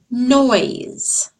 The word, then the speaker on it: noise: Noise, noise. You can hear me saying oi, oi.